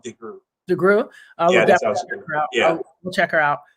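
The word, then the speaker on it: DeGruy: a white and but it's pronounced degree yeah we'll check her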